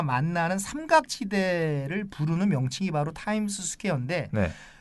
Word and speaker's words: 타임스 스퀘어: 많은 분들이 타임스 스퀘어라고 발음을 하는데 타임스 스퀘어가 아니고요. 타임스 스퀘어가 맞습니다. 그러니까 미국 분들이 타임스 스퀘어 이렇게 발음은 안 하겠죠. 타임스 스퀘어 이렇게 발음을 하겠지만 그렇다고 해서 타임스 스퀘어는 아닙니다. 타임스 스퀘어는 잘못된 발음이고 타임스 스퀘어.